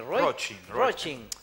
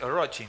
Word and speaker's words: Roaching: Roaching. Yo lo leo Roachin. Roaching, pero es Roaching.